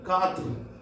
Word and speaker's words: quatre: 4, Q-U-A-T-R-E, katr. Q-U-A-T-R-E, katr.